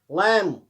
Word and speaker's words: lamb: लैम, LAMB, B silent रहता है, लैम।